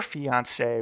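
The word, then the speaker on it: fiancée: It's pronounced the same for both, but yeah, I don't know.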